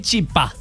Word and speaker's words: chipá: Bueno, entonces ahora sabemos que lo correcto es decir el chipá. El chipá. El, o sea, el masculino y chipá con acento en la A.